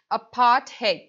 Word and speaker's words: apartheid: It is apartheid, right? So this is the its pronunciation. Of course, in the spellings it end up with the D, but its pronunciation goes somewhat in the T tone.